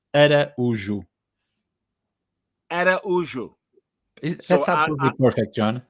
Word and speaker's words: Araújo: So the O is silent. Araujo. No, sorry, the O in the end. Say it again. It's so the Portuguese accent is a bit close, the vowels. So it's more subtle.